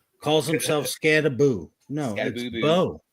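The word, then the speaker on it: Skattebo: Like Scatabo calls himself Scataboo.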